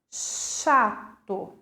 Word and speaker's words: chato: Se vocês forem observar, o C e o H apresenta apenas um som, o som de X, chato, perceberam?